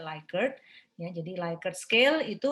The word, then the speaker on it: Likert: Oke, lalu yang skala Likert ya, bacanya Likert ya, jangan Likert ya, karena ini nama orang penemunya ya, Likert.